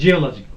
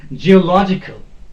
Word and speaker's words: geological: geological this is geological we pronounce it as geological that is wrong no this is geological geological or if it is logical